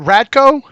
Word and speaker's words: Radko: How do you pronounce? Is it Radko?